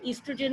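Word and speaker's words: estrogen: ईस्ट्रोजन में ओ is silent, ई से pronounce करते हैं, ईस्ट्रोजन एंड प्रोजेस्टेरॉन।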